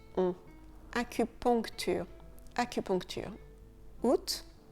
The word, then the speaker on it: août: Août, on ne prononce pas le A, le mois d'août.